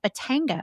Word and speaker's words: Batanga: bio and um then we're gonna make a Batanga is that right this is the drinka yes